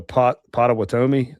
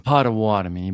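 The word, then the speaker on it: Pottawatomie: Um was that one the P potati? I'm probably not saying that right. I usually butcher the engine names. Um Pawatami but yeah Pawatami.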